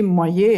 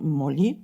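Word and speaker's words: molle: un arbre sacré hein qu'il faudrait prononcer Moyer et non moli hein un arbre dont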